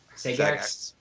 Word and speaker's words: Sagax: But it's like, so I know I've been saying it wrong the whole time. Sagax. Yep.